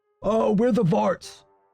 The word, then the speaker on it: Xvart: It's X V A R T. Vart, the exile.